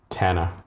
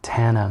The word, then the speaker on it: Thana: correctly pronounce your name Tana Tana like Thailand all right silent H just for fun how